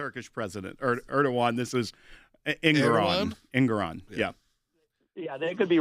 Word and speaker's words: Engoron: against Letitia James and Judge, I call him Erdogan. I don't know if that's the correct pronunciation or if that's the guy in Turkey. They behave the same way. The Turkish president, Erdogan. This is Engoron.